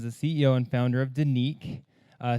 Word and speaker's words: Denik: ceo and founder of danique uh spelled d-e-n-i-k but pronounced danique and i'm sure we're